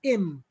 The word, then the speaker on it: im: In Jamaica, of course, that he or she is realized or pronounced as im, based on English him, H-I-M.